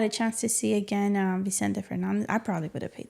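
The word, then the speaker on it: Vicente Fernández: Vicente Fernandez.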